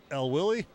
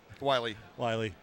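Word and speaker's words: Wyley: He was saying go L Willie. Wiley. Wiley spelled with a W-Y.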